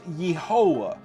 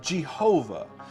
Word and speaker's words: Yehovah: In the original 1611 King James Version, we see that this letter was rendered as an I, and the pronunciation was Yehovah instead of Jehovah.